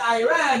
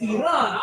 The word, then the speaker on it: Iran: that you support our country, but you disrespectfully pronounce it wrong. It is not Iran, it is Iran.